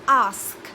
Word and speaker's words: ask: অ্যাস্ক অনেকে এটাকে আক্স বলে, আক্স না কিন্তু ইটস আস্ক, আগে এস তারপরে খে।